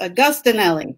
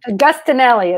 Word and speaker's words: Agostinelli: Agostinelli. Agostinelli. It's very Italian.